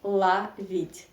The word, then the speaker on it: ловить: so we write law read but we say la vid yeah because the stress isn't the last syllable e yeah love it okay and this